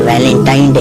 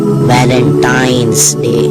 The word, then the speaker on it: Valentine's Day: नाम पर गौर करें इसे जो आम कहा जाता है यह वैलेंटाइन डे है लेकिन हकीकत में जो इसका प्रोनाउंस वो है वैलेंटाइंस डे वैलेंटाइन वाला दिन है